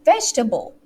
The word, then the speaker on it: vegetable: healthy right so it's vegetable okay vegetable vegetable right the first syllable okay so you're testing